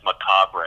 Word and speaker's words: macabre: spelled ma c a b d re almost pronounce it likes macabre a and you'll get it right but melodies